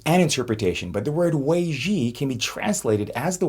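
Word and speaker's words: 危机: Forgive my Chinese pronunciation and interpretation, but the word Wēijī can be translated as the word crisis. Now, when I first tried explaining this to my kids, they got it immediately because I mispronounced it as wedgie.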